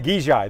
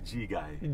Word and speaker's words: Gegaj: Today, how do you pronounce my last name? Gegaj, though. I got it right. Actually, Gegai. Gegai.